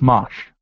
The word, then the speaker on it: Mache: You know how many people probably butchered his name? It's Mache.